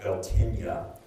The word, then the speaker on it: Beltane: Beltane around May 1st, and in Gaelic it's pronounced Beltinia, and Samhain around November 1st.